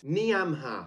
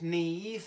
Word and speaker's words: Niamh: Niamha. It's pronounced Neve.